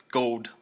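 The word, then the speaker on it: Gould: to say this go how do you say his last name it's gold all right what does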